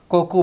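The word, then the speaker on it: 国: তাহলে ওটার উচ্চারণ দুইটা, কুনি অথবা কোকু বা গোকু।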